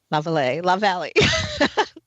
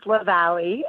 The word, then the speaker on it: LaValle: So it is not. It's a hard one. It's LaValle. It's LaValle. Okay. Right. It's written in French, so there you go.